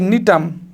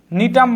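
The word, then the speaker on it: Gnetum: যেমন হচ্ছে নিটাম। নিটাম বানানটা তোমরা দেখবে। এটা কিন্তু জি দিয়ে শুরু। জি দিয়ে শুরু বা জি এর উচ্চারণটা উজ্জ থাকে।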